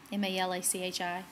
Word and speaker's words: Malachi: the only italian prophet known to israel malachi m-a-l-a-c-h-i get it okay seriously it's pronounced it's pronounced malachi and he is the